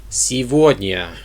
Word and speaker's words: сегодня: So today would be сегодня. Сегодня. For some reason, the G is pronounced as a V.